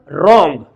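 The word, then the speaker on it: wrong: यहां पे W silent है। अब एग्जांपल जब सामने आ गया है तो बताता चलूं। अगर डब्ल्यू के बाद आर आता है तो डब्ल्यू हमेशा इंग्लिश में साइलेंट होता है।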